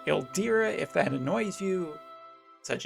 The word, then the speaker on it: Ildyra: talk about valentine's day el dyra the global pronunciation i always call her eldera if that annoys you